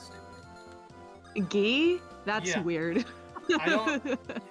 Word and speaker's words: Guy: Gi? That's Yeah. weird. I don't. If you can read the katakana, his name is actually pronounced gi, but like it's like, why?